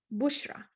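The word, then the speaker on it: بشرى: But now if I add bushra, this alif maksura at the end, bushra.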